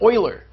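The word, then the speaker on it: Euler: e some people claim that e stands for Oiler which was a Oiler is spelled e l r and some people claim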